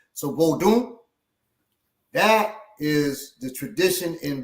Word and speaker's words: Vodun: said it's from Haiti vodu which is you don't say the end go Doon because it's nasal lies in in most West African languages so vodun that is the tradition